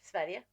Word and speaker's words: Sverige: Sverige.